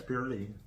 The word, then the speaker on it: praline: Yeah, it's praline.